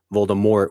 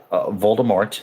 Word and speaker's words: Voldemort: mold that's pretty terrifying you know what rhymes with Mort wart also pretty terrifying you know I mean like yeah makes sense by bue it I mean but Voldemort Moore rhymes with war oo oo I have